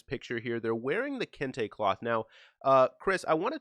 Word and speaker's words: Kente: how do you say it again that it's Kinte cloth yeah Kinte cloth it stands out and it jumps out at